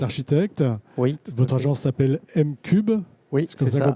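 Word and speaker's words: M'Cub: Votre agence s'appelle M-Cube. Oui, c'est comme ça qu'on prononce.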